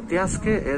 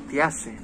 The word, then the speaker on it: tiaske: Entonces, cano tiasque es a dónde vamos. Hay una variación ahí, pues ya sabe, ¿no? Cada pueblo lo pronuncia un poquito a su manera y hay unos que dicen cano tiase.